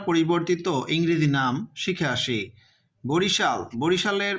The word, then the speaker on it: Barishal: বরিশালের পূর্ব বানানটা ছিল এরকম, BARISAL। বারিশালের মতো উচ্চারণ হয়, আমরা বরিশালই বলি, বাট উচ্চারণটা কিন্তু বারিশালের মতো হয়। এসতে কিন্তু দন্তস্ব হয় আমরা জানি, বাট বর্তমান বানানটা দেখো BARISHAL, তাহলে উচ্চারণটা কিন্তু এইটা হবে বা বানানটা হবে এইটা। এই যে এখানে দেখছো এস আছে না, এখানে এস এর পরে একটা এইচ যুক্ত করা হয়েছে।